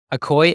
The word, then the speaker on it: ACOY: of that out is that why you started okoy am I saying that right how do I pronounce the yeah that's right okay okay awesome